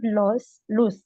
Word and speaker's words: lose: You don't lose mark. මොකද lose marks if you don't මේ LU is a